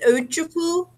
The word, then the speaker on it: Ogutcu-Fu: It's I now go by. It's Ogutcu-. But I go by, my husband's last name.